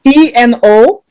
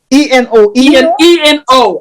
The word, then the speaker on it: Eno: It's Eno. Eno. Okay. Yeah, Eno Williams. Eno Williams, like Brian Eno. Yeah. Eno. Exactly. Yeah. Exactly. Eno Williams.